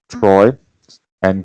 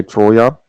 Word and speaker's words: Troia: the right plan that's troy or toya how the brit how the americans say troy and greek say troya yeah there you see